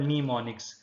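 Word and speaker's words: mnemonics: जिसको हम निमोनिक्स कहते हैं। एम is silent in this situation, that is called निमोनिक्स।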